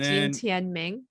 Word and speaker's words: Jin Tianming: Yeah, Jin Tian. So it would be Tianming, Jin Tianming. It's kind of like, think of it as like Jen. Gene.